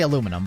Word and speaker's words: aluminum: I say aluminum, but aluminium is so much better.